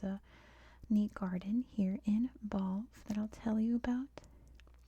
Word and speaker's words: Balvi: This is Balv, with that weird silent I at the end, I guess, emphasizing that last syllable.